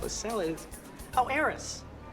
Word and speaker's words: Eris: In fact, you know what might really help us sell it is, oh, Eris. You don't pronounce the H, and that's not what Eris means.